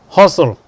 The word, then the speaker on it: hustle: And the letters are there, but the sound is not there. Look at listen, wrestle, hustle, bustle.